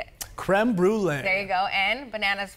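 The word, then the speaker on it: crème brûlée: Creme brulee.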